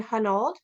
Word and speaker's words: Hunold: And today I am very excited to welcome Jen Britton and Hunold. Am I pronouncing that correctly?